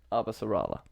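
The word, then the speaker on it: Avasarala: I like a refuse to pronounce that. Abasarala.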